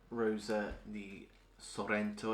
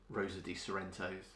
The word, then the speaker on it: Rosa di Sorrento: I have to say the Italian names with a bit of an accent on them, because my mum's from Italy, so we grew up learning a lot of Italian, so it would be against my nature to call them Rosa di Sorrentos.